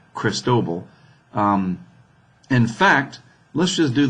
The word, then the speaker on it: Cristobal: have Cristobal here and that's how you say it by the way cristobol in fact let's just